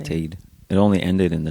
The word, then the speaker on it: apartheid: Apartheid is actually how you say it. Apartheid.